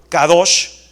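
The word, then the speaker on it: קדוש: La palabra hebrea Q-A-D-O-S-H, así se escribe en hebreo, Kadosh, Q-A-D-O-S-H, Kadosh. La palabra hebrea Kadosh significa separado, significa trascendencia, grandeza, exceltitud.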